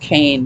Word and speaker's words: Kean: I think her last name is pronounced Kane, but it's spelled Kean.